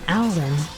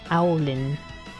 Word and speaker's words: Alan: My name is Alan. It kind of rhymes with howling. Alan. Did someone not make it? Sounds like Alan? Yeah, with more of a owl. Owlin.